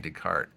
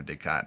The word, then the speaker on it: Descartes: am by the philosopher Renee Descartes or descat I guess is the correct pronunciation which is a famous